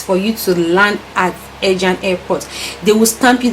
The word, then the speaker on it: Ercan: When you land North Cyprus airport, we call it Ejan. but the pronunciation is Ecan. That's ERCAN. That's if you're calling it in the English form, you call it Ecan, but it's Ejan. That's how we pronounce it here in North Cyprus.